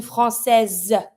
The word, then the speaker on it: Française: Une Française, Z sound. Why? Because now the S is between the I and the E, so I need to pronounce it.